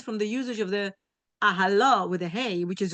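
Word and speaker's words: אהלה: Since this is the case, the fact that the word is written ahalo with a hey, even though it's pronounced with a vav ahalo, is coming to teach us something else.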